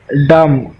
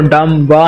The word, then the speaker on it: dumb: डम, DUMB, यहाँ पर जो बी आप वर्ड देख रहे हैं ये बिल्कुल से साइलेंट है, मीन्स इसका कोई भी मीनिंग नहीं है। आप इसको डम ब नहीं कह सकते, यहाँ पर बी साइलेंट वर्ड है। डम, इसे हम कैसे बोलेंगे, इसको डम, आप भी बोलिए डम, ठीक है, डम बोलेंगे।